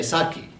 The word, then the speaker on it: sake: usually call me sake and sometimes the pronunciation is a little different they will say saki japanese sake but maybe